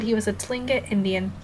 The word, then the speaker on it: Tlingit: said he was a Tlingit Indian pronouncing Tlingit probably with the clicking of his tongue as of saying clink he